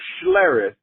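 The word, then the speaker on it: Schlereth: I don't know some show and um Mark schare that's how you say his name with his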